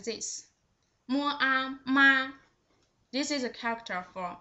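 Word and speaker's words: 妈: The first one with the first tone, its pronunciation is just like this. Mua, ma.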